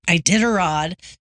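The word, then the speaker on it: Iditarod: And most famously, the ID I How do you pronounce it? Ididarod. Ididarod.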